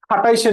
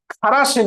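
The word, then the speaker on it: Kharasch: এখন তাহলে আমরা প্রশ্ন পাচ্ছি, এখন উল্টা রাশি অ্যান্টি মার্কোনিকভ নীতি বা খাটাইশের নীতি, আমি বলি খাটাইশের নীতি, আসলে উচ্চারণটা হচ্ছে খারাসের নীতি।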